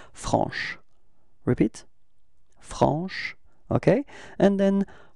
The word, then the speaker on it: franche: Feminine form is franche, okay? So I insist a little bit on the sh at the end, but it's that's the